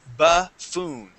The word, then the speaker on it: buffoon: We have a U, and that U is not going to be boo. It's going to be buh. And now this double O will be an oo sound.